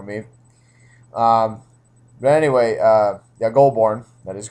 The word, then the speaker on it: Goulbourne: Thanks to Teep's pronunciation for me. Um, but anyway, yeah, Goulbourne.